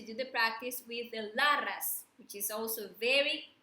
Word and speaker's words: Laras: imagine light there, and we pronounce the mantra like La Ras.